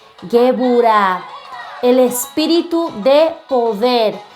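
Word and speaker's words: גבורה: También tenemos por acá el espíritu de poder, que en hebreo se dice Geburah. Geburah, el espíritu de poder.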